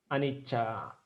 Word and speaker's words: anicca: Então, voltando aqui, por exemplo, Anicca, um C fica na primeira sílaba, o outro C fica na segunda sílaba. Ó, esses A são curtos aqui, né? Então é meio tempo. O que não termina com vogal curta é tempo normal.